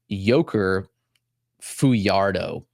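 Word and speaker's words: Yhoiker Fajardo: So that's let me pronounce it right. Joker Fiardo, Boston Red Sox prospect.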